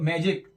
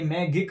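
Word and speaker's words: magic: तो मैजिक, इसमें भी देखिए जी के बाद आई आ गया तो इसलिए इसको भी पता है जा की तरह, मैजिक। ये मैगिक नहीं है, ये गिम नहीं है,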